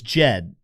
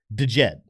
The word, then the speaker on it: Djed: It's Jed and and and some people do call it DJed. And technically speaking, if you look it up on Google how to pronounce this word, it says the right pronunciation is de Jed.